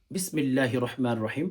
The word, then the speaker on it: বিসমিল্লাহির রাহমানির রাহিম: তিনবার এস্তেগফার তিনবার দরুদ শরীফ পাঠ করা যখন শেষ হবে এরপর আপনি হচ্ছে তিনবার অথবা পাঁচবার অথবা সাতবার আপনি বিসমিল্লাহির রহমানির রাহিম পাঠ করবেন।